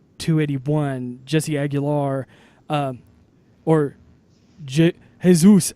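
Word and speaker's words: Jesús: just Aguilar or JIT hey Zeus Aguilar I believe is the actual pronunciation 282 Orlando or C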